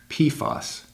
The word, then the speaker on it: PFAS: known as per- and polyfluoroalkyl substances, or PFAS, pronounced PFAS.